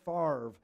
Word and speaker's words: Favre: day when Brett Favre, who doesn't even know how to say his own name correctly, the consonants are flip-flopped. You're like, get spell your name right, dude. All right, you gunslinger. F a v is favry.